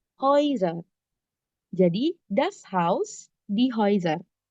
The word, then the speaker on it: Häuser: Seperti yang aku udah bilang tadi, kalau A dan U ketemu, tapi A-nya ada umlaut, dibacanya jadi oi. Häuser.